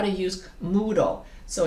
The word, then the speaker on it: Moodle: on how to use moodle so it's spelled m-o-o like moo you know like in a c like in a cow and then d-l-e like candle you know d-l-e moodle and i and don't ask